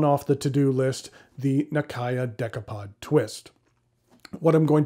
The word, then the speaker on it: Nakaya: most westerners pronounce it nakaya but i understand that technically the correct way is more like nakaya with the a sounding the same throughout it's one of those